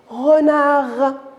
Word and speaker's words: renard: lettre que j'ai prononcés renard alors j'ai prononcé la m e t mais ces misères j'ai noté la lettre d ça se prononce pas eh oui mes petits